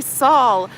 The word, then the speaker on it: Saul: is she couldn't say Saul she kept saying s s and it was annoying me so I was like Saul rhymes with Paul Saul rhymes with Paul